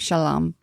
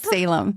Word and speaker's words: Salem: And you have a son named Shalom. I do. What? Salem. That's how you say it.